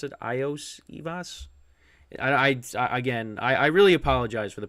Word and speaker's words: Iosivas: They scored another touchdown, and that was to Osivas, or however you pronounce it. Eosivas, I think that's how you pronounce it. Iosivas.